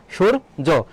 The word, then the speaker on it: সূর্য: তাহলে দেখো সূর্য এখানে ছয়ের মতো উচ্চারণ হচ্ছে না, তাহলে দন্তস্ব হবে না। তাহলে যেখানে দন্তস্ব আছে সেটা ভুল যাবে। আর উচ্চারণের ক্ষেত্রে দীর্ঘকারের ব্যবহার নেই, সেক্ষেত্রে রস্যকার হবে, তাহলে এটাও ভুল। এখানে সুরুজ আছে, এটাও ভুল হবে। তাহলে এটা কি হবে? সঠিক উত্তর হবে ক, সূর্য।